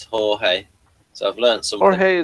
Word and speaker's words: Jorge: At least I know how to pronounce this as Jorge.